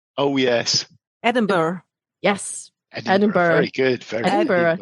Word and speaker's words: Edinburgh: Oh, the Scottish place that nobody can pronounce. Oh, yes. Edinburgh.